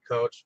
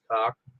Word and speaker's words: Coch: You called it Coach, but I know it as Coch. Um, Uh, Oh, so it's pronounced differently from how I said it.